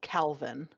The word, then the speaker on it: Kelvin: brain the most uh k-e-l-v-i-n pronounced Calvin it's Kelvin but they pronounce it Calvin you're just you're setting